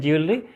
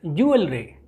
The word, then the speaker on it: jewelry: लिखा भी जाता है उर्दू में, पढ़ा जाता है jewelry, but this is not jewelry. Correct pronunciation of this word is, look at the phonemic transcription, it's jewelry.